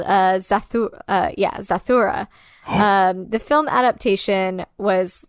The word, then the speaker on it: Zathura: it um and it's called uh uh yeah zathura um the film adaptation was like a pseudo sequel that was created in 2005 and starred josh hutchinson and chris stewart zaythora yes yes that's how you pronounce it um and it was literally and